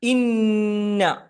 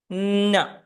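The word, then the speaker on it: إنّ: പറഞ്ഞു തരും എങ്കിലും ഓർമ്മപ്പെടുത്തുകയാണ് ഇന്ന ഓതുമ്പോൾ ശ്രദ്ധിക്കണം ആ നൂനിന് ശദ് ഉണ്ട് ഇന്ന ആ ശദ് എന്ന് പറഞ്ഞാൽ ഒരു അക്ഷരത്തിന് ശദ് വന്നാൽ ആ അക്ഷരം രണ്ടു തവണ ഉച്ചരിക്കുന്നത് പോലെയാണ് പറയേണ്ടത് ഇല്ല ഉമ്മ ഇന്ന ഇങ്ങനെയാണ്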